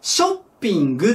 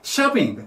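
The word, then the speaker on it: shopping: 買い物ショッピングするなんて発音としては症じゃなくて車に近いしゃーピング 3 玉になる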